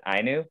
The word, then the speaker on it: Ainu: to connect with the they pronounce it ainu in japan and they're the indigenous